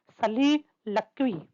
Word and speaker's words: soliloquy: इसको कुछ इस तरह से प्रोनाउंस किया जाता है सलीलक्वी, ठीक है ना।